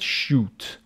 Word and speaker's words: chute: go with your parachute this is called shoot shoot CH h u t end of that